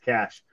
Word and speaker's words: cache: love of god please write that it's pronounced cash you might be the only